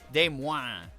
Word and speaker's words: Des Moines: Des Moines is also a hard one to figure out without help. Yeah, especially because, like, if you pronounced it like a French person would say it, they'd say Des Moines, right?